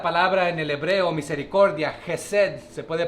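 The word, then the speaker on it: חסד: Esta palabra en el hebreo, misericordia, Hesed, se puede pronunciar así, se puede traducir amor leal.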